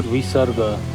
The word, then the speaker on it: visarga: And completing the sequence is the Visarga. pronounced as a soft, aspirated H sound at the very end of a syllable.